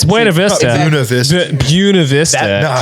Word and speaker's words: Buena Vista: No, it's Buena Vista. It's Buena Vista.